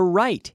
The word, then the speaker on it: write: WR o te so the W is silent and we don't say